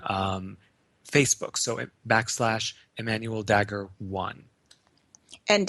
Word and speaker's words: Dagher: Facebook so back Emanuel dagger one and Dagger is spelled d a g h e R uh d a g h the H is silent yes great